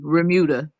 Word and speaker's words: remuda: no I was saying did you say rauda am I pronouncing it righta veruda Bermuda Bermuda okay yeah without the be Remuda is a herd of